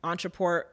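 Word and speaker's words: Ontraport: you want to be able to collect money Entre Port is spelled o n t r a p o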